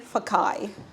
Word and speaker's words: Fakae: Fakae.